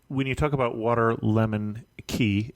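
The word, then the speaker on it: Cay: And when you talk about Waterlemon Key, and I always have trouble pronouncing that word because it's spelled C-A-Y, we're talking about a place that isn't as accessible not by boat.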